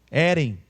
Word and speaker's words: Herem: Herem, uma pronúncia assim no hebraico.